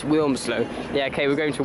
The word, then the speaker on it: Wilmslow: you pronounced it actually my dad always pronounces it Winslow which drives me nuts i reminder every time it's Wilmslow yeah okay we're going